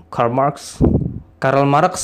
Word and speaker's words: Karl Marx: Gimana bacanya? Karl Marx ya tulisannya gitulah.